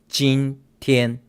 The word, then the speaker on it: 今天: Okay, now remember this last part is pronounced 今天.